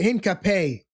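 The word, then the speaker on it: Hincapié: One of the other signings that I wanted to mention is Hinapia. This is a guy Henape that actually pronounce him right.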